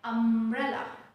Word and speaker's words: umbrella: Whenever M and B, these two letters, when they are together, I mean, when M is followed by B, never pronounce it beta. So here also we'll just remove the sound of B from here and we'll pronounce it simply like umbrella.